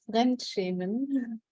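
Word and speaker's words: Fremdschämen: The title, Michèle, could you pronounce what? Yes, it's called Frenchman.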